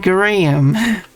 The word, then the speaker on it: Graham: Graham is pronounced Graham. Does make sense.